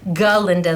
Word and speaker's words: Glinda: from Wicked toss toss that's Glinda ginda the G the g is silent that's how she became